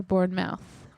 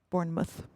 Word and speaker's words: Bournemouth: called Bournemouth Bournemouth or Bourn mouth it's spelled like mouth but all the English people I listened to pronounced it MTH Bournemouth Bournemouth yeah well those